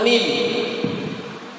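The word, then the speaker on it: م: Kemudian kita menemukan daripada huruf mim. Cara pengucapan huruf mim sama seperti huruf ba. Ya, cara pengucapan huruf mim sama seperti huruf ba. Bibir bawah dan bibir atas disatukan.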